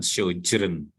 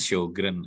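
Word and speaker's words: Sjögren: nama penyakit ini dengan syeren muka Ini bacanya show Grand aja bukan sojourn ojol xorgen atau apalagi storejet syukron ya udah itu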